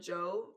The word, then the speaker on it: Djo: please, y'all give him it's spelled Joe like DJO. Give him a chance. His music is so good. I'm glad he blew up with End of the Beginning. Wait, Joe DJO. Like he spells it DJO. But his name is Joe Curie. Got it. Okay. But he spells Joe like his artist name. His artist name is it's pronounced Joe.